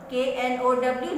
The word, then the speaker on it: know: sea, seldom visit the seaside and no one, KNOW, no पढ़ेंगे, ठीक है, इसमें K साइलेंट है।